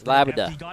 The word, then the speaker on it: LBBD7: You can pronounce his name, LBBD7, as Labda? Is that how you say it? Labda?